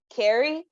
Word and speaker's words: Kerri: I tell people it's Kerri, like Terry, except with a K.